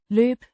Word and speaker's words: løbe: It's an infinitive marker linking the following verb lube to the particle lube means to run or to run out pronounced loop l o b with a longer o sound.